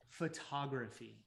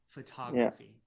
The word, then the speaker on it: photography: okay okay i want you to stress this syllable it's photography photography good so yeah can you give us a